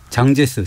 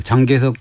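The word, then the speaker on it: 蔣介石: 시작되는지부터 살펴볼까요 예 1941년으로 거슬러 올라간다는데요 당시 국민당 장제스 장재석 주석의 부인인 쑥 메이딩이라고 하는데 우리가 우리 발음은 송미령이라고 하죠 송 대박이 만들어지는데 그것이 워싱턴협약입니다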